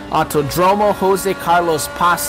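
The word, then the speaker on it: Autódromo José Carlos Pace: I said I would say the full name once, so it is the Autodromo Jose Carlos Pace, I believe is how it is pronounced, in Sao Paulo, Brazil.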